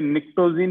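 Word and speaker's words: pnictogen: Very good Devesh, इसे निक्टोजिन या निकोजिन बोल सकते हैं, तो पी साइलेंट है, निकोजिन।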